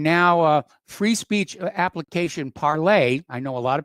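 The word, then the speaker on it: Parler: uh Free Speech application parlay I know a lot of people call it parlor because of the way it's spelled but it's the French pronunciation the word means speak parlay okay parlay Vu FR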